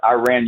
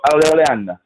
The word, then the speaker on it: Iran: You pronounce Iran. You go Iran.